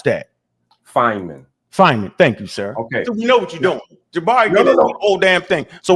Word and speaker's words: Feynman: How do you pronounce that? Feynman.